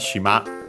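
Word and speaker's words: 島: You might have heard, more likely, the strictly Japanese word for island, shima, accent on the last syllable.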